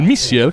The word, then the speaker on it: Missier: Giovincelli, potete far inserire ai nostri microfoni del Missier con l'accento sulla I, come ti chiama Martino.